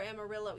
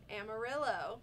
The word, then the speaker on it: Amarillo: get to explore Amarillo either, so there might have been other stuff to do that we just didn't.